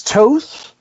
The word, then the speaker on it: Toth: But the writer was Enrique Sanchez Abuli with Alex Toth, rhymes with both, which I'm going to mess that up a lot.